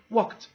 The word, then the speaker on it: walked: to pronounce it t it's an e d but we're going to pronounce it t they danced whenever you have a k then you're going to adid please pronounce it t walked talked they dance dear